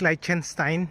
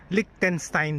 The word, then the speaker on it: Liechtenstein: Kanina ang pronunciation ko is lightchenstein. 'Yun pala kinorrect ako ng anak ko. Ang sabi niya Licktenstein daw ang pronunciation.